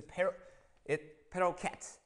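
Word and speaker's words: parochet: It's a peroket is how they say it.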